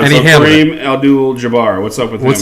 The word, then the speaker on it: Abdul-Jabbar: And So he handled Kareem Abdul-Jabbar. What's up with him? What's his name? Kareem Abdul-Jabbar. Say it again. I said it already twice. You were wrong both times. Okay, then you say it. Kareem Abdul-Jabbar.